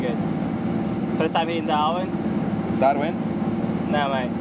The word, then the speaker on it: Darwin: Darwin? No mate, it's pronounced Darwin with three A's. D-A-A-A-A-R-win. Darwin.